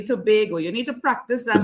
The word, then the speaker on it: Tobago: where we yes and we pronounce it actually Tobago you need to practice